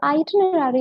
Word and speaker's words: itinerary: So most people അത് mispronounce ചെയ്യും itinerary എന്ന് പറഞ്ഞിട്ട്, but it's not itinerary, it's itinerary. So first letter I ആണ്. So remember this. Pronounce ചെയ്യുന്ന സമയത്ത് just remember. Itinerary, it starts with an I, പിന്നെ it's tin, TIN.